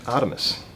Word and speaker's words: RTMS: It's actually a product called Artemis, which is spelled RTMS, but very similar to the old Greek god Artemis, which was the god of the hunt.